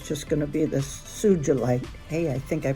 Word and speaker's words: sugilite: The first time I've had a SUGILIte. I have a hard time pronouncing that because I want to say SUGILITE because that's kind of how it's spelled, but it's not. It's see, I'm at it again.